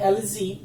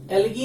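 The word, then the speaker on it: elegy: CORTEZ, next one इज द एलजी, एलगी नहीं पढ़ते इसे।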